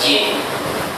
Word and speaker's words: Gene: Nama saya Jin, bukan Gene. Ejaannya Gene. Orang Barat bacanya Jin.